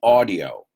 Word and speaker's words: audio: now I'm testing the audio right now now I want you to pronounce that word with me audio no audio audio ah like awesome like brother-in-law that's an a very very